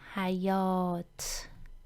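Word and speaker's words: حیاط: farsi is hayat so we start with this hair then the short vowel ah here comes a consonant if not learned so far just have it in mind that we've learned this consonant in the following session it has the yes sound yeah hi we write it exactly like e but it also has the year sound hi yo then the long vowel oh hi yo and finally comes this tear heyot repeat after me hi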